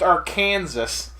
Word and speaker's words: Arkansas: from Arkansas it's like it's pronounced Arkansas it's not like I